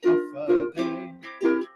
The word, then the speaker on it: Hafa Adai: Just pronounce it as Hafa Adai.